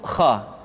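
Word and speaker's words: خ: Selanjutnya adalah huruf kha. Kha dikeluarkan dari pangkal tenggorokan. Kha, pangkal tenggorokan, diucapkan dengan mengalir nafas. Atau lebih praktisnya, pengucapan huruf kha persis terdengar seperti orang yang tidur dalam keadaan mengorok.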